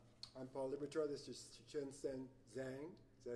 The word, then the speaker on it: Shenshen Zhang: This is Shenshen Zhang.